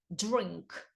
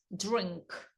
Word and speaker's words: drink: з R як пити воно вимовляється як Дж Дж drink drink ну це все треба